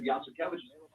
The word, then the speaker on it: Yasuko: helping on the pronunciation i said yasuko they said is that like yes we have cabbages it's kind of like